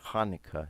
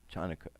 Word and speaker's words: Hanukkah: spelled hanukkah variations the hebrew word is actually pronounced with a guttural salad Hanukkah not Jonica okay now in the 2nd century BC the